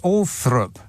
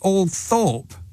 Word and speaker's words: Althorp: Is apparently pronounced Althorpe. Why? It's clearly Althorpe.